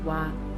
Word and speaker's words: は: So as you can see, we write it as hiragana ha, but we pronounce it as a particle as wa, wa.